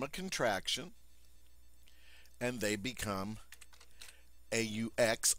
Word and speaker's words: aux: contraction and they become aux also pronounced o when du is followed